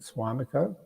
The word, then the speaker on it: Suamico: We have another one in a town or region called just north of Green Bay called Suamico. Is that how you pronounce it? Suamico. Mm-hmm.